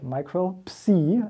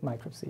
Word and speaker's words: Micropsi: parts microbe C and industries we actually do pronounce micro the American Way micro C as it would be PS II which is